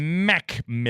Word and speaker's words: McMillan: I don't think that's how it's pronounced, but that's how he wants it pronounced. Macmillan.